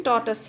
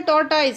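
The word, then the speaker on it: tortoise: अ टॉर्टस, इसकी प्रोनाउंसिएशन टॉर्टस है, ठीक है। लिखा क्या है? दिखने को लगता है जैसे टॉर्टाइज है, टॉर्टाइज नहीं है, टॉर्टस है। हाँ, इसकी प्रोनाउंसिएशन टॉर्टस।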